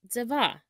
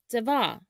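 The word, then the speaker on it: צבע: The Hebrew word for color is tzeva, tzeva.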